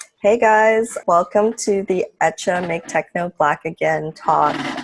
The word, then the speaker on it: Hecha: our brand name is etcha and it's a word uh that in spanish it means made or created in terms of pronunciation the h is silent so it's just etch